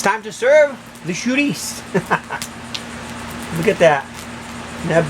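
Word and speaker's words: Chouriço: Chourico. Oh, Chourico. Let's that again. Chourico. It looks like Chourico, but it's pronounced chourico. Try it.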